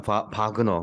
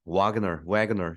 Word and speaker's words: Wagner: 바그너, 뭐 바그너, 와그너 여러 가지로 영어로 발음하는데요.